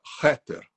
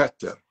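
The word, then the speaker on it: Kether: A gente escreve Keter, com K, Keter, mas a gente pronuncia Heter. Então, K-E-T-H-E-R. K-E-T-H-E-R. Keter. Mas a pronúncia é Heter.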